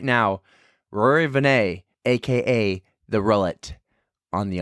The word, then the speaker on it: Vannais: the, Rory Vannais, on the On the Runs podcast. Nailed it. Nailed the name. I nailed it. S is silent.